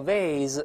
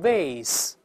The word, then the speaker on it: vase: 这个烟灰缸叫 at it，生词表有；花瓶叫 vase，也可以读成 vase，都行，v a s e，复数加 s。